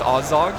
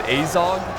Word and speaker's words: Azog: Some people, okay, so I've heard both ways to pronounce Azog. Some people pronounce it Azog, and some people pronounce it Azog. I just prefer Azog.